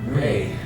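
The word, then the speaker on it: Rhe: I'm Ray. Ray, pleased to meet you, Ray. R-A-Y? R-H-E. R-H. Ree. No. Ray. Oh, please. Pronounced like a gust of wind blowing through the autumn trees.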